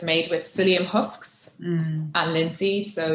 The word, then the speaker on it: psyllium: for the p yeah it's a silent p you know i learn something new every day like psychology yeah like psychology you see now when